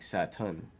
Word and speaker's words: Saturn: Oda loves to do, Saturn in Japanese sounds a whole lot like Satan, because they're not going to pronounce the R in Saturn. It'd be more like Saturn, which sounds like Satan.